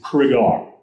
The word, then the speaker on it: Cregar: out here is that the name is Craig R he always to tell people it's Larry Craig are crayons as you're saying cigar so that's the clue to remember how to say his name he was the youngest